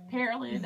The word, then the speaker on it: Pearland: Pearland.